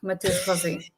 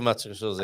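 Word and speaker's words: Mateus Rosé: practice your pronunciation, because you've got the Matius with the shush sound, and you roll your R straight out of the shush into a rolled R, Rosé.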